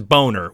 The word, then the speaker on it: Boehner: who's that politician chat John Boehner we know his name is boner we just don't want